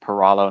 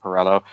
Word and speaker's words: Peralo: First off, my last name's actually pronounced Peralo, not Perello.